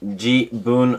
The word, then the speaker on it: 自分: It's written jibun no tan.